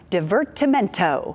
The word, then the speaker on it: divertimento: is here now to tell us about Dr divertimento that's did I say it right that's it